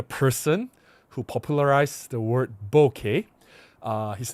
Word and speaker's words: bokeh: And in case you guys are wondering, bokeh is the correct pronunciation, bokeh. I don't know why some people pronounce it as boka or boka or bo.